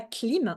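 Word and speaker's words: klim: manthra comme par exemple le manthra clim ça s'écrit K L ilon m et le manthra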